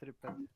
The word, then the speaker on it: Tripat: It's Tripat. how to pronounce? Tripat. Tripat, okay.